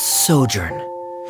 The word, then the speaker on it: sojourn: together well is everything clear oh directors osimos pronounce this word let me see Ah that's sojourn it means to stay for a while this